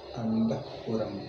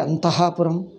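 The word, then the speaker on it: अन्तःपुरम्: How do you pronounce? Antahpuram. Antahpuram. Do you say Antahapuram? No. Antahpuram.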